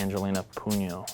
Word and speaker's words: Angelina Puno: Why don't you tell us a little bit about Angelina Puno? Is that the right pronunciation? Yes, that is correct.